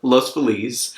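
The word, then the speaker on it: Los Feliz: Feliz or lost believes how do you say yeah see little E's there you go love's Belize because it's named Spanish and yes it speaks Spanish so these areas of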